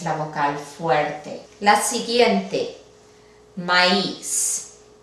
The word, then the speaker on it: maíz: Aquí tenemos una palabra que acaba con una Z, que es una consonante. Vamos a dividirlo en sílabas. Tenemos una A y una I juntas. Esto debería de formar un diptongo, porque la I es una vocal débil. Sería maíz.